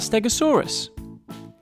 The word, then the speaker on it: stegosaurus: learn all about stegosaurus how do you say that again stare go saw russ can you say it with me stare go saw so what do we know about stegosaurus it was found in